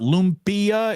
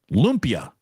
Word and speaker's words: lumpia: I saying lumpia wrong it's not lumpia it's two syllables Saint David's Olympia lumpia thank you Doug we'll